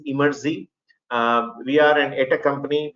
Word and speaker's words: Emertxe: People pronounce as Emertxe, some different names, right? The right way to pronounce is Emertxe.